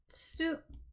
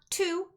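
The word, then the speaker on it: つ: This one is tsu. Now, this one is not tu, and it's also not su. The T and the S are both pronounced tsu, tsu.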